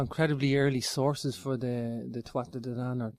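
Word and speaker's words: Tuatha Dé Danann: Yeah, we've got incredibly early sources for the Tuatha De Danann, or Tua De Danann. I pronounce it the English way. I should pronounce it the Irish way, is Tua De Danann.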